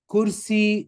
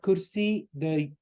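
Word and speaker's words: كرسي: Kursi, the word kursi, it's pronounced not kursi, like in Urdu. We don't, in Arabic, it's kursi. You stress the ya at the end.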